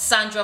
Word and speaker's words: Sahndra: girl I'm your host Sandra the H is silent like the silent age